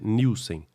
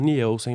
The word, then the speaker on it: Nielsen: O sobrenome delas originalmente é em inglês com a pronúncia Nilsen, mas a família fala Nelson mesmo, do jeito que se lê.